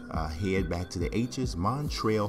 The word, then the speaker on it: Montrezl: back to the hes Montreal herel yes the Z is silent the Kentucky Wild Cat